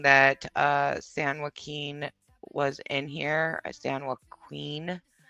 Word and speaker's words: San Joaquin: It's pronounced San Joaquin. It's not. You don't pronounce the Q. San Joaquin.